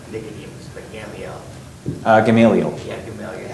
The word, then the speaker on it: Gamaliel: Yeah, Gamaliel.